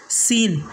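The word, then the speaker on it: scene: यहाँ एस के बाद सी आया इसलिए यहाँ पर सी साइलेंट होगा।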